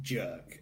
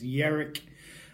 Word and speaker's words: Jerk: or Viking Derek and it's not pronounced jerk even though it looks like jerk it's not as Jarek and so flipping over